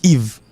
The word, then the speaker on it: Yves: Le l'accompagne avec l'autre lettre, et puis il prononce comme I. Exemple. Encore un autre exemple, Yves.